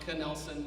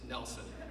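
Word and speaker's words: Knelson: those listening at home it's not kanelson it is nelson for those of you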